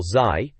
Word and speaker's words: ZY: The reviewer, ZY, or Zai, as they're saying we should pronounce it, even jokes about leaving the fridge door open to make winter come faster.